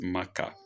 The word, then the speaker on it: Makkah: The proper pronunciation is Makkah. It's Arabic.